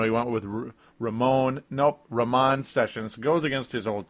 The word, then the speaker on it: Ramon: excuse me Raman sessions as I'm finally able to say it correctly I may have said it correctly on a previous show um Johnny Flynn was the first guy to say that I you know I heard say it correctly Raman sessions as I'd been saying Raymond sessions forever over the last couple years when he was a